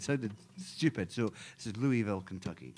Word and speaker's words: Louisville: So this is Louisville, Kentucky.